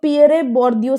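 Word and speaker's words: Pierre Bourdieu: Term है cultural capital, ठीक है, तो ये पियरे बोर्दियो से है, ठीक है, इन्होंने इसको कॉइन किया था।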